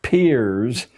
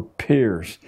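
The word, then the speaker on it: Peirce: has produced he was it's pronounced peers but it's spelled as if it were Pierce Charles S Pierce a strange figure a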